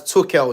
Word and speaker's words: Tuchel: Gav, is pronounced as Tuchel, not Tuchel.